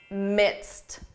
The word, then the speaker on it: midst: This is a tricky one simply because of pronunciation. When you hear this in spoken English, I'm in the midst of a big project, it's easy to confuse this with mist.